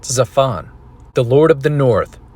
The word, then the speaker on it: Zaphon: could add the reference to ba'al hop zafan pronounced zaphon the lord of the north referred to as